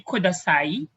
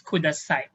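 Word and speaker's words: ください: we have our uh we don't say kudasai it's kudasai we don't say one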